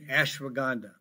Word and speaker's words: ashwagandha: And you can have more of that by taking ashwagandha. I'll spell it for you.